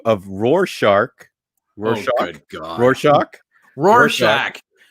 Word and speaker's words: Rorschach: Say roar. Roar. Shack. Shack. Roar. Rorschach.